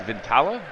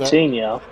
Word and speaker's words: Vitinha: How do you say this guy's Vintala? Don't know. but Vitinha.